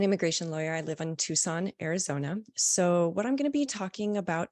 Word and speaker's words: Tucson: spent six years working in Refugee resettlement in toxin sorry Tucson Arizona sorry I pronounced that very wrong the first time and